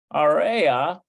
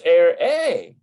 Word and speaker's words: אראה: So ani area. Let's see, ani area. Ani area. Otach. Okay. We need אני אראה. oh, it's air A.